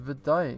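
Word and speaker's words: Wutai: time tell me about woot tire pronounced vadai enroute chi rear tire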